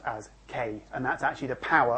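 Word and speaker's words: 京: And it's pronounced as K, and that's actually the power of the computer.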